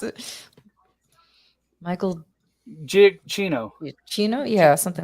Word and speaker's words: Giacchino: I couldn't pronounce it. Michael Giacchino. Chino? Yeah, something like that. Giacchino.